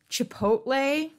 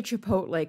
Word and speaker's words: Chipotle: list don't you fret he mispronounces words with absolute impunity like Chipotle he will never say Chipotle correctly he always says chipot Chipotle and I correct him